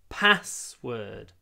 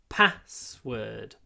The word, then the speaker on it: password: my password just remember password is a compound noun it's one word made from two nouns so the stress is always on the first word password password so try to pronounce